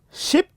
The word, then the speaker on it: ship: This one is ship, and that one is sheep. Now, when you are communicating, if you fail to observe the time that you are going to spend in producing these sounds, you'll find the two words sound the same.